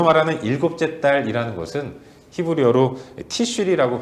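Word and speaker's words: תשרי: 여기서 말하는 일곱째 달이라는 것은 히브리어로 티슈리라고 발음하는데 태양력으로 환산하면 9월, 10월을 의미하는 겁니다.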